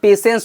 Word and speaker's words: patience: उच्चारण पेशेंट हो जाएगा, जबकि यहाँ पे देखिए इसमें टी का उच्चारण नहीं होता, इसमें पेशेंस होता है। टी को हम क्या करते हैं, साइलेंट कर देते हैं, पेशेंस।